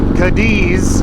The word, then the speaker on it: Cadiz: If you're not from around these parts, you might be inclined to call Katie's Cadiz, or if you're trying to search for Katie's, Kentucky, you're probably looking for like the name Katie, but it's spelled C-A-D-I-Z.